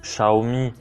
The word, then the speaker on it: Xiaomi: a dedans alors c'est bien un Xiaomi ou Xiaomi prononcer le prononciation chinoise redmi note 3 euh et